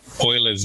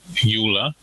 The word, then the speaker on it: Euler: asked was about um euler's method and a lot of pre-people who announced his name uh euler um but he pronounced his own name euler so that's how i'm going to pronounce it it's usually best to